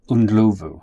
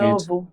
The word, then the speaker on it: Ndlovu: My other co-chair is Stephanie Ndlovu. And I have struggled. I'm so sorry, Stephanie. I know I get your surname wrong. It's your married name. You've just had a kid. Ndlovu. Ndlovu.